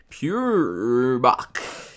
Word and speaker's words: Peuerbach: We are back here, guys, coming to you from North Remembers, and we just had an awesome arranged war against Peuerbach. Pronounced just like that, I promise.